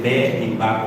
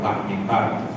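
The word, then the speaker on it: במדבר: Recuerden que eso es como, tiene que ver como con la pronunciación, a veces dependiendo de la región, ¿verdad? Vamos a decir de la región de Israel. A veces vamos a encontrar algunos que digan Bamidbar y otros que digan Bemidbar, porque recuerden que en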